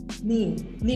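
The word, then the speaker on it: 네: Nah, di sini ada kata nih di sini menunjukkan kepemilikan. Kepemilikannya milikmu. Ini berasal dari kata noe. Tapi karena disingkat jadi seperti ini, no, ne. Terus bacanya biar beda sama ne punyaku, bacanya ni.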